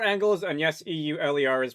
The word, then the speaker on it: Euler: These are your Euler angles, and yes, e u l e r is pronounced Euler.